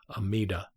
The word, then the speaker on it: Amida: lotus sutra he says in chinese the pronunciation is omitofu and in japanese amida this buddha amir buddha